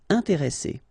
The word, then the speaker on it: intéresser: between the two, so the sound is really strong, it's S, okay? And the second thing you should remember is as we've got double S, so double consonants, so identical consonants, after this E, the sound that you should pronounce for this E is really open, so it's E.